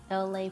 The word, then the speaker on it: Elay: I'm LA, pronounced like LA, like the city.